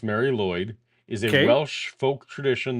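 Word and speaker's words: Mari Lwyd: yeah all right so Mary L Mary Lloyd pronounced Mary Lloyd is a Welsh folk tradition that involves a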